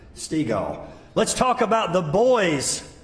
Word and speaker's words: Stiegel: I don't forget it because Dad said Stiegel like beach ball. So that's, if you get confused, that's how you pronounce Stiegel.